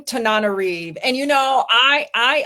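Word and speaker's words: Tananarive: How does she pronounce her name? Tanariv.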